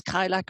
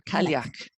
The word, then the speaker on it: Cailleach: beautiful, and I'm afraid that I'm going to butcher the word, but is it Cailleach? That's how you say it? No. Well, it's Cailleach or Cailleach.